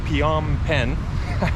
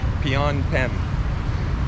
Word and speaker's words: Phnom Penh: we're at the uh International uh airport in Pon pen I always got to think before I pronounce that Pon pen so uh yeah not you know it's not